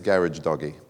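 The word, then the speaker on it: Gharajedaghi: to read it, and the way to pronounce his surname is Garage Doggy, right? Jamshid Garage Doggy, and that's actually about as close as you can get.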